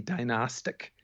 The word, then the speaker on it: dynastic: The adjectival form would be dynastic with the die.